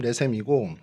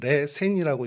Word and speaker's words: 레셈: 레셈과 싸웠다고 했는데 이게 개역 개정에는 말씀드린 것처럼 레셈이고 개역 한글에선 레센이라고 이제 발음합니다. 그러니까 이게 발음 차이가 아주 미묘해서 뭐 레셈 레센이 같은 건데 뭐 레셈이 좀 더 원어에 가깝다라고 해서 이제 한글 성경에선